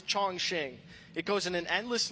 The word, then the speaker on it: Chongqing: Chongqing. I heard Chongqing. And uh many people will confidently tell you you're wrong and tell you it's Shong Shing.